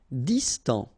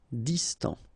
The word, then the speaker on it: Distant: Distant. Final T not pronounced. Distant.